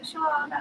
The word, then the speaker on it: Shawana: That are You guys say hello to Shawana. Hello, Shawana. Hello, Shawana. I hope I pronounced your name right. Yes, that's how you say it, Shawana.